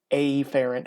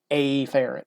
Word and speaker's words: afferent: i say efferent what i like to do is be really really stressed on that first letter i will say afferent or efferent and that's not really the way that they're pronounced normally it is afferent or efferent but those don't really sound too much different so i overdo it afferent and efferent so how do we